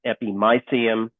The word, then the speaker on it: epimysium: So you have the epimysium, that's how it's pronounced, epimysium, the muscle belly.